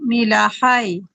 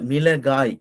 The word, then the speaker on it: மிளகாய்: இல்ல, ஹா வராது. இது வந்து கா வரும். கா. கே, ஏ. மிளகாய். மீல, இல்ல, ஃபா இல்ல, கா. மிளகா. இல்ல, மிளகாய். கா வரும் அது. இது வந்து எப்படின்னா காய். கே, ஏ, ஏ கா இது கா. காய். மிளகாய். காய் காய்.